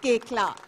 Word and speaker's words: Koechlin: It's pronounced Koechlin.